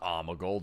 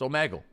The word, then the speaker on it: Omegle: It's not amigul dude. It can't be. It's Omegle.